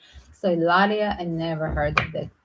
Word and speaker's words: Hilaria: And I must say, I never heard of name Hilaria because they don't pronounce H. So Hilaria, I never heard of that name.